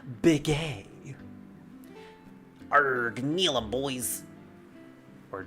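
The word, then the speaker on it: Bikke: of the great Pirates Beacon or B B it's pronounced big AR Neil them boys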